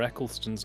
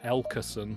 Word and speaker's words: Eccleston: of Southern American friends I used to pronounce Christopher eccleston's name as Christopher elkerson really that was very strange